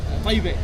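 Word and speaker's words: طيب: Taibe.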